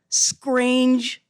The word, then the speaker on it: scrange: the 2021 edition called scrange fruit and that's s-k-r-a-n-g-e playing on a common bahamian pronunciation of the word strange and this year's journal